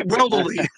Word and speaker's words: Weldley: Eric's last name is Weldley, and you haven't pronounced it right since he's been on the board. Eric and I laugh every time you call his name because it's Weldley.